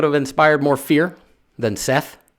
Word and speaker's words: Seth: storms, violence, and disorder, whose name is pronounced Set, but spelled like Seth.